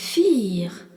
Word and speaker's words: vier: Le nombre 4 se dit vier. V-I-E-R, vier. Et on rencontre encore le V qui se dit fe et le I suivi d'un E qui est un I long.